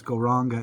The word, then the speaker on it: Gauranga: And it's kind of even though it's Gauranga, it's 4 syllables, Gauranga. And we're just going to do 3 Gaurangas together.